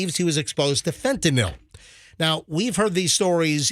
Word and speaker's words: fentanyl: to overdose from unintentional fentanyl exposure by the way folks it drives me nuts when people say Fentanyl it's not spelled like Tylenol it's fentanyl NYL not n-o-l fentanyl yeah but fentanyl